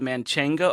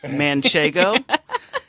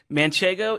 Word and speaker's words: manchego: should say it so there is a cheese called man Cheng oh excuse me manchego manchego is a cheese from La Mancha so it's love it's men shaken like Don Quixote is Michigan and the full name of the cheese is manchego ma n CH e G oh no N in the